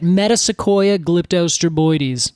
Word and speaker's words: Metasequoia glyptostroboides: Metasequoia glyptostroboides.